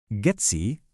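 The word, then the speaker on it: GEDSI: Getsy, ingat ya, dibacanya gets bukan dieja per huruf.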